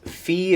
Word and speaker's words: fi: e four is fa sharp four is Phi again with an I mix so uh